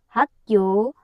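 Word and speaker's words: 학교: शब्दको तलपट्टि ग आउदा यसको उच्चारण क भयो।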